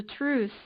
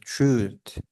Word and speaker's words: truth: helped find out the truth so I think you're missing something here you're missing the pronunciation of Truth so it's like truth not truth it ends with a T kill it listen here